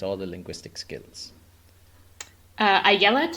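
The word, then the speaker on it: Ayelet: the linguistic skills uh AET is definitely how you pronounce her first name um Zur I guess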